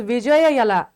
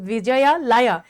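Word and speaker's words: Vijayalaya: सो व्हेनएवर वी say about the founder of Chola dynasty the first one वाज़ विजय यला। Sorry sorry I can pronounce S विजया लाया ही वाज़ the founder of the Chola dynasty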